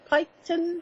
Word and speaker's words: Piketon: Ohio tiara tiara young hello and how to pronounce that picketed Piketon I Graham o Piketon right okay I've got